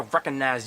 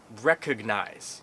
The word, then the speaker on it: recognize: say it strangely, but don't say, I recognize that. Because then you'll just sound like a rapper or something. I recognize you. It's recognize. It's 3 syllables.